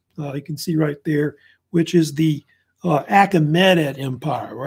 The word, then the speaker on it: Achaemenid: there, which is the Achaemenid Empire, or Achaemenid. It's pronounced different ways. Like Achaemenid is one of the common ways they say it.